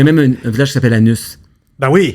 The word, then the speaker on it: Anus: Écoute, il y a même un village qui s'appelle Anus. Ben oui. Mais il prononce Anu, je pense.